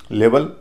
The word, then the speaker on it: level: इसी तरह LEVEL, लेवल, क्योंकि लेवल भी नाउन है, शुरुआत के हिस्से पे स्ट्रेस है, दूसरे हिस्से पे स्ट्रेस नहीं है, वहाँ पर ई है, उसका उच्चारण अ हो रहा है।